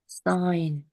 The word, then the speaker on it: sign: 이 발음해 보세요. Sign, 그렇죠. 여기 지 발음 안 하죠? 네. sign이라고 발음하죠.